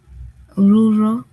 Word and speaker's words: rural: Rural. Correct. Very good. That's exactly how it is pronounced. Ming Ang, rural. Rural. I know, a little bit hard to say with the R sound.